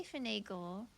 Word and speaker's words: finagle: Final G. Is that how you pronounce it? I say finagle, and you say final G.